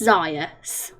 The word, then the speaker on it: Zaius: and you was like, yeah, it rhymes with him as well. But then the next time you came in, you says it doesn't rhyme with Gaius, and then I always got confused now with how it's pronounced, but it's Zaius.